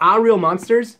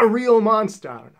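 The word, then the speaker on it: Aaahh!!! Real Monsters: mark exclamation mark so I think you're supposed to scream the name of this like ah a real monster it's just something I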